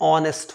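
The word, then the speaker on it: honest: एच जो letter है इसका साउंड अंडरस्टूड हो जाता है जब हम इसको प्रोनाउंस करते हैं जैसे कि ऑनेस्ट में तो ऑनेस्ट में नेस्ट नहीं होता है क्या होता है ऑनेस्ट होता है इसीलिए यह जब वर्ड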